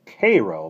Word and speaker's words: Cairo: They pronounce it Cairo, by the way.